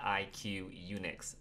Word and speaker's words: IQUNIX: It's the IQUNIX F96.